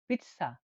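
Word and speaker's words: pizza: মানে ওয়াইন বা মদ জি যেটা জেড জেড কে উচ্চারণ হয়ে থাকে সা হিসেবে সা ত এর নিচে হসন্ত সা মানে কি সা হিসেবে হয়ে থাকে উদাহরণ দেখলে বুঝবেন যেমন এটা পিচছা পিচ্চা জেড এর উচ্চারণ তাহলে ছা হয়ে থাকে কি উদাহরণটা হলো পিচ্চা পিচ্চা মানে হল পিজ্জা পিজ্জা খাবার যেটা আমরা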